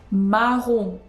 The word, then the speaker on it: marron: When we pronounce A here, your tongue is supposed to be on your lower teeth like this. It's supposed to feel light, the sound. Marron. Of course, double R is just pronounced as one R.